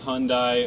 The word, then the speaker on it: Hyundai: anyone makes a comment it is Hyundai all right the E is silent I know Korean people